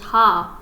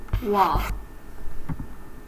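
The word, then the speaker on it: は: And I say that because wa, ha, you usually read this as ha, but as a particle, It's actually pronounced wa.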